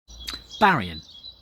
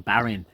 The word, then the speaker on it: Berrien: Juke Burien not ing this is perhaps the simplest of the names of the summer return us to pronounce correctly just say the written on the page some people make the